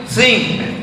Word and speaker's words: think: Think, positive thinking, berpikir, bukan thinking. Think, T sama H itu bacanya think.